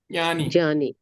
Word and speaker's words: ज्ञानी: देखो जो ज्ञ है ना ज्ञ साउंड पूरा आना चाहिए। इसका साउंड आना चाहिए। है ना? ज का नहीं आना चाहिए।